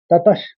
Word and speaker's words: ततः: पहले में ही आप विसर्ग देख रहे हैं, श का विसर्ग है। दूसरा शब्द श से चालू है, तो आप समझ गए होंगे कि पहला शब्द को ततश करके उच्चारण करेंगे।